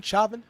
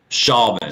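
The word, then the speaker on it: Chauvin: are updates regarding uh Derek how do you pronounce his last name shavon shavon CH au VI n aiding and abetting second-degree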